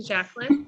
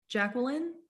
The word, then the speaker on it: Jacqueline: Jacqueline? Yeah, I say Jacqueline. Oh, Yeah, mine is like 3 syllables technically.